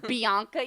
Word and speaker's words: Bianca: Like my cousins, Bill's nieces and nephews, they always called me Banca because they couldn't pronounce Bianca yet. They forgot the extra syllable.